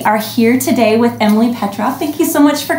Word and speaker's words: Petroff: We are here today with Emily Petroff. Thank you so much for coming. It's Petroff. Oh, Petroff.